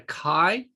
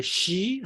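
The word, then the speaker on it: χ: kind of we have introduced the kai okay some people said some people uh pronounce as a she i don't know why this is a greek notation a great alphabet and then we have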